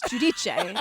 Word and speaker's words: Giudice: She calls herself Teresa Giudice, but it's Giudice. That's how you say it, Italian.